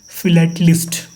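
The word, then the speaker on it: philatelist: फिलेटिस्ट मतलब वो आदमी जो स्टम्प को कलेक्ट करे और उसको पढ़े, उसके बारे में जाने, उसको बोलते हैं फिलेटलिस्ट. फिलेटलिस्ट, प्रोनाउंसिएशन शुड बी क्लियर.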